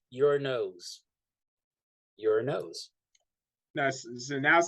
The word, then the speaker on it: Uranus: I thought it was Uranos, but it has an O. Uranos, yeah. Uranos. It's not Uranus. It's Uranos. It's kind of like how it's Thena, not Athena.